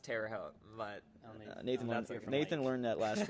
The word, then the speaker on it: Terre Haute: It's pronounced Terre Haute, but Nathan learned that last week, and he's raced it a lot of times.